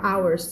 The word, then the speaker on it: hours: arrived a couple hours ใครอ่าน hour ไม่ได้นะคำนี้ตีนะ ตีด้วยนะมีเหมือนกับว่าน้องๆพาอ่านก็ยังอ่าน hours กันอยู่นะคะคำนี้อ่านว่า hours เสียง h ไม่มีนะ A couple hours ago Mr.